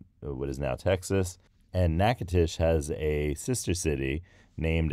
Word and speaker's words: Natchitoches: spell Natchitoches I will tell you it is n a t c h i t o c h e s Natchitoches and it is from the name of